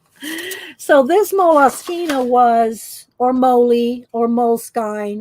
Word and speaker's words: Moleskine: want to say but i did look it up one day on the moloskina site and they'd had people pronouncing it and they pronounced it moloskina so don't email me